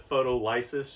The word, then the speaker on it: photolysis: I usually pronounce it photolysis just so you can really see the roots in there, but it's pronounced photolysis. So photo means light, lysis means split.